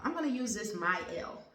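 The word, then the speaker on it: Mielle: use this my L I said meal in the last video but someone corrected and said it's pronounced my L at least a friend of mine so maybe she's right I don't know we'll see you tell is it pronounced my l or but anyway it's m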